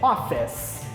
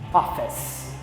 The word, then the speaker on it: office: que no inglês é office. Veja que eu ignoro o E, eu não pronuncio aquele E, ele termina também com aquele som de S. Office.